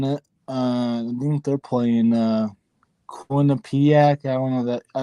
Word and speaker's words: Quinnipiac: I don't know where they're from, but Quinnipiac is. I think you pronounced it right.